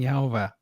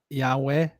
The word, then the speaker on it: Yahweh: to be a moment the name which which which we're pronouncing yov which I don't think is correct I think it's more like Yahweh which is more like e a o u it's the five vowels in a string it's the it's never